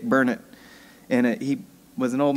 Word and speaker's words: Burnett: Actually, I didn't spell it, I just said it, but most people would say Burnett, but it's Dick Burnett.